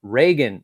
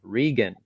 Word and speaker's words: Regan: use my name but it is pronounced reagan instead of regan lol thank you reagan